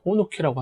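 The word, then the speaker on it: ほおのき: 히다 호오노키 다이라 스키장인데 일본인들 현지인들 발음 들어 보면은 호키다이센 요 그리고 이게 평지에 뜻하는 타이라 빼고요 그냥 호노 키라고 하는 거 같아요 이곳은요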